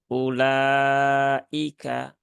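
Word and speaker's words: أولئك: ilaika Ya tuh itu maka di situ u-nya cukup dibaca satu harakat saja jangan dibaca lebih dari dua harakat Jadi cukup ulaika seperti itu lanjut ke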